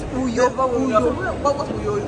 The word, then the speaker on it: Uyo: Say because I didn't pronounce it well. It's Uyo.